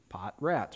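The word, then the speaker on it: Potratz: it but it's easy just spell pot and then spell rats r a t z pot rats but it's really poats go to our website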